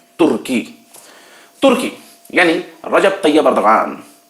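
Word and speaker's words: Recep Tayyip Erdoğan: तुर्की यानी रजब तैयब एर्दोगान, उनको अंग्रेजी में वहां की लैंग्वेज में रिसेप तैयब एर्दोगन बोलते हैं, लेकिन उर्दू और अरबी वाले जानते हैं कि कैसे प्रोनाउंसिएशन करना है, वो तलफ्फुज को ठीक तरह समझ लेते हैं।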